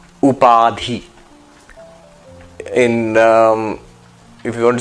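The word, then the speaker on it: उपाधि: This concept is called upadi. Upadhi in um if you want to spell it up a d h i up p a d h iadi.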